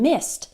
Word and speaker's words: missed: I missed my flight it sounds like M is T but it's spelled mi SS e D missed missed the IDI sounds like a t when the last sound in the word is unvoiced so s is an unvoiced sound there's no vocal cords